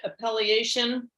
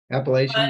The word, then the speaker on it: appellation: do you say that a peliation so it's appellation yeah on the side